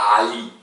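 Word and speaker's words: علي: Hein, on le prononce, la même chose mais en mettant les cordes vocales. On met le moteur. Ali, Ali.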